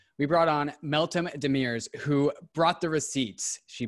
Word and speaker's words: Demirors: How do you pronounce her last name? Demirs. Demirs? Oh, that's simple. We brought on Meltem Demirors, who brought the receipts.